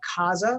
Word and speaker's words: Caza: Caza Properties was our roots. Yeah. Caza means to hunt in Spanish, right? CAZA. It's also play on words. It sounds like house, right?